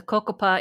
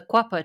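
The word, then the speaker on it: Cocopah: The Quapaw tribe, I think that most of us probably pronounce it the Cocopa Indian tribe, but this is the Quapaw tribe. This is how they pronounce it, the river people.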